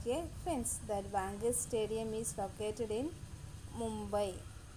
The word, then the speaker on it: Wankhede: See, children, how to pronounce that? Wankhede Stadium.